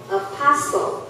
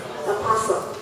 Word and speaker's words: apostle: Apostle or apostle. Apostle. Yeah, apostle. Apostle. So we don't pronounce T here.